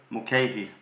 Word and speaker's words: Mulcahy: whose name none of us know how to pronounce. But we think it's Marc Mulcahy. Mulcahy.